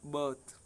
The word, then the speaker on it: birth: ठीक है, फिर बर्थ, BERTH बर्थ हो तो भी, और BIRTH बर्थ हो तो भी, बर्थ। ठीक है ना, अर की ध्वनि आ रही है ये, तो ये अर का साउंड है यहाँ पर बीच में, और फिर है थ, बर्थ।